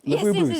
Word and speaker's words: Labubu: Yeah, Laboo. I don't First of all, did I say it correctly? Laboo.